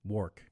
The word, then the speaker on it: Wark: name I work work it's it's war with a K work okay excellent yeah appreciate